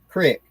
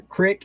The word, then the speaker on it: creek: How is creek pronounced in the South? Crick. CRIC, like a crick in the neck across the creek. It's a crick.